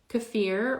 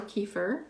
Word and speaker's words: kefir: damage that zanone causes cfir or kefir depends on how you say it does have some